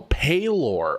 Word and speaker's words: Pelor: Pelor's cleric is a cleric deity pronounced Oh, Palor.